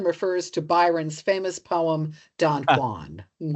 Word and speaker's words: Don Juan: Jan rhymes with true one. Yes. Yeah. That's how you know it's pronounced because you can't say he is not the true one. I'll take our friend Don Juan that way.